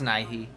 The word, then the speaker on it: Nighy: 90% sure because I think it's Nighy. Right? Yeah. Is how you pronounce it.